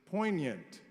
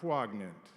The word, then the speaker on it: poignant: Mike Griffith who taught me that the proper pronunciation of the word is poignant not poant.